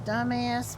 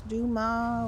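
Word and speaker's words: Dumas: He said his name was dumbass, but it's duma, which is d u m a s, but you don't pronounce s.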